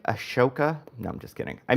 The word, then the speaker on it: Ahsoka: My problem with it is um what's the H doing there? I just I in my my mind I pronounce it Ash ashoka but that is wrong.